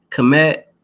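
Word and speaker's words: Kmet: yards of a touchdown if you don't know what comet is commit that's spelled k-m-e-t cold commit I want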